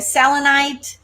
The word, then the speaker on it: Selenite: Selenite, I think I pronounced it right.